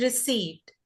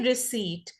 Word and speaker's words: receipt: The second word is receipt. It's spelled with a P but the P here is silent. So we say receipt.